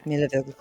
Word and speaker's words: Milivoj: J. J, not G. Jay. Oh, Oh, so he's Jay. like. Okay. Milivoj.